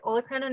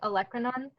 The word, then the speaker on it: olecranon: you pronounce that again so i've heard it a few different ways olocrino is how i pronounce it i've also heard it olecranon um either way is fine they both spell the same way got it um so